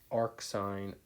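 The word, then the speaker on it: arcsine: And this sine -1, cosine -1, tangent -1, we call that arc sine, arc cosine, or arc tangent. That's how we would pronounce that.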